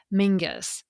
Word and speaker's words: Menzies: Take the late British politician Mingus Campbell, for instance. His name is spelled Menzies.